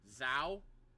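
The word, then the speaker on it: Zhou: racer for Ferrari show but with the Z instead of s for pronunciation Zao shows show guanyu bam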